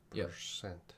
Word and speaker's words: percent: we say percent but the accent between two words is one is person the stress is placed on the uh word e uh and then the percent is stressed on the word the second syllable of e so person percent person and percent so when i was